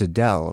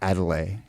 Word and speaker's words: Adele: to pronounce her name it's it's adele right not adelaide as i said adele i believe perfect and this is